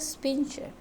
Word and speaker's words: sphincter: This is esophageal sphincter. S. Okay, sphincter. How to pronounce sphincter?